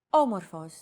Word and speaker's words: Όμορφος: Did you notice the accent mark above the first letter? There is only one type of accent mark in modern Greek, the acute accent. It adds stress to a syllable.